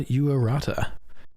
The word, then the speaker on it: Yuarata: Tonight on the show, very impressive young man, Wil Yuarata. And I did ask him how to say his last name, and that is correct.